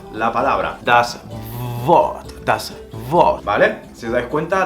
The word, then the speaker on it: Wort: En alemán la W se pronuncia como una B, haciendo vibrar el labio inferior. Os voy a poner un ejemplo y veréis que es bastante fácil. Das Wort, la palabra.